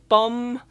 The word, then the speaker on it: bomb: else would I say bomb Lam yeah don't pronounce the B that sounds really really weird now to me and